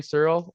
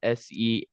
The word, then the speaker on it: Searle: Henry Searle, Searle. Kind of unnecessary E there.